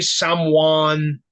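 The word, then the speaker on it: Samhain: I'm gonna call it Sam Hayne you know there people that that say saman yeah and I guess that's like the real way to say it like Danzig always said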